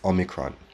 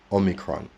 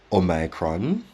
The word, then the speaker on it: omicron: simplest form it becomes omicron omicron so it's a short o short and sharp omicron there are other pronunciations like omicron omicron and others but personally i would work with omicron and in fact in